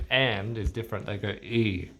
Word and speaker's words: y: They go e.